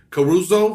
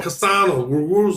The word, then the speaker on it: Cassano: But I do want to say shout out to Jay Caruso. How do you say his name? Cassano.